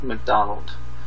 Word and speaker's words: McDonald: And on Facebook, I am McDonald. My first name is spelled M-I-C-A-H. Last name, just like the restaurant.